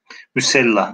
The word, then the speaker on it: Müsellah: Arkadaşlar bu kelimenin kalıbını söyleyeyim. O kalıba göre siz okuyun. Mufaal. Mufaal kalıbında okursanız kelimeyi doğru telaffuz etmiş olursunuz. Mufaal. Silahlı manasına bakalım kimler doğru okudu arkadaşlar. İkinci kelime. Müsellah.